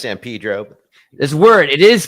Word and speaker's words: San Pedro: Pedro the Californian human trafficking export capitals it's pronounced San Pedro this word it is pronounced San Pedro and thank you for taking the Slavic approach